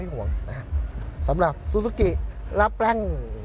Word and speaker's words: Lapin: นะ ฮะ สำหรับ Suzuki ล แปง เมื่อ กี้ ผม อ่าน ว่า ลาพิน เหมือน ชื่อ คน ไทย เลย มา ดู กัน ได้